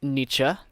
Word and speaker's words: Nietzsche: was a bush was e it's called it's pronounced and Nietzsche oh oh good all right yeah we both